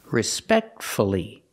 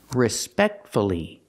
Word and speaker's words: respectfully: f l l y if you have two syllables and the stress is on the second syllable then pronounce the U respect see the stress is on the second syllable respectfully so we pronounce the